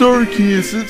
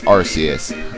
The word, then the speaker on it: Arceus: Now, before people go like, it's pronounced Arceus, Four kids is terrible, okay? It's Arceus.